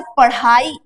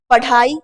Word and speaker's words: पढ़ाई: इसी प्रकार से पढ़ाई, पढ़ाई, अगर आप यहाँ पे बिंदी नहीं लगेंगे तो इसका उच्चारण क्या करेंगे, पढ़ाई, पढ़ाई गलत है, ढा ढक्कन का नहीं है, यहाँ पे बिंदी लगाइए, पढ़ाई, अढ़ा, अढ़ा इसका उच्चारण होता है।